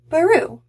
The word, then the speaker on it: Barroux: art and story by baru which rhymes with blue i like that i